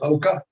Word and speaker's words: Oka: I was thinking about retiring, but I'm not thinking about retiring anymore, seeing what Walter Oka is doing. It's spelled just like it sounds, OKA.